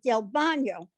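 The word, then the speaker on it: DelBagno: o but he says you don't pronounce the g it's bono which is bad his brother was trying to say tell the his person and he says del bono so the man wrote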